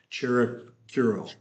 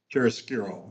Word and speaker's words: chiaroscuro: You know, it's called, how do you pronounce it? Nick Chiaroscuro, right? Chiaroscuro, yeah.